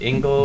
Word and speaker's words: Engel: It's Engel, Engels. And I say when I